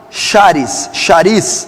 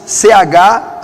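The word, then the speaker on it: χάρις: A graça vem do grego original charis, C-H-A-R-I-S, charis, ou charis, provavelmente deve ser essa pronúncia.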